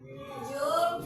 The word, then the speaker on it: joule: Joule per kg derajat Celcius. Bacanya J ini jou.